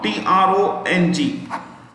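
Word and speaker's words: Trọng: was surprised go in p-h-u foo tong t-r-o-n-g i spell again n-g-u-y-e-n okay one word next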